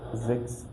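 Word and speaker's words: sechs: Then 6, you heard me saying Zex, so S, we read it like Z, so that's why you say Zex, like that.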